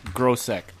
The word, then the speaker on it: Grosek: It's Grosek. He told me I was saying it right last time, so.